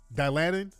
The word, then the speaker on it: Dilantin: was epileptic yeah Dilantin is an epileptic pill Dilantin dilatin that's how you say it yeah yeah